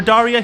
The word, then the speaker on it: Daria: remembers these names for Daria he broke her name down into two parts Dari rhymes with sari and uh which is part